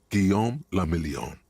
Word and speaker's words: Guillaume le Million: For Revachol, your city, that meant only one thing: Guillaume le Million. If it doesn't rhyme, you're not pronouncing it right.